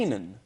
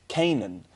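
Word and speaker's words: Kannan: I say like that. Kanan. How do you spell it? K-A-N-N-A-N. I like Canaan. See, Kanan's cool, but from day one, I've always just said Canaan.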